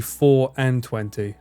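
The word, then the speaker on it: Four'N Twenty: I like the way it's spelt fawn. Fawn 20 here, but it's actually 4 and 20.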